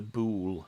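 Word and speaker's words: boule: have a thing called the bool segment i think that pronounced that b-o-u-l-e um a greek word presumably um so um we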